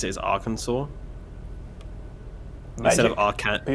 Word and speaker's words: Arkansas: like cat you know arkansas is spelt like kansas just with an ar in front of it but they pronounce it as arkansas instead of our cat